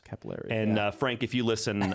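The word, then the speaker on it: Cappelleri: a technical analyst called Frank Caparelli. How'd I do there, Mark? Not good. Okay. Not good. Jenna. No, I think you did do good, actually. I'm losing lift on that pronunciation. Frank Capillari. Capillary? I got close.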